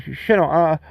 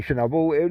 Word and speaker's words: Chernobyl: I said, can you just pronounce that word again? And he goes, Chernobyl.